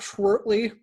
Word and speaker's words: Schwertly: basement guitar superstar i am here with schwertley did i pronounce that right yeah that's right okay